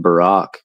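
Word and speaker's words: ברק: um you know the the Hebrew word for lightning which is pronounced Barack has that 302 gatria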